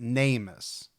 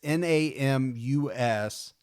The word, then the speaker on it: NamUs: Well, I found another one called, and I'm going to pronounce it NameUS. It's Namus.